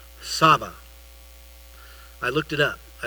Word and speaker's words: Tsaba: And, it's T-S-A-B-A. But it's pronounced in Hebrew, Tsaba.